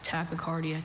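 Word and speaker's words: tachycardia: Tacocardia.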